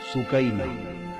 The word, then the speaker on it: سکینہ: جگر شہزادی سیدہ سکینہ, اصل نام ان کا عربی وزن میں سکینہ ہے, عرف عام میں سکینہ چلتا ہے, اصل لفظ سکینہ. سیدہ, میں عرف عام کا لفظ استعمال کروں گا, تلفظ بتا دوں سکینہ, سیدہ سکینہ, سیدہ سکینہ.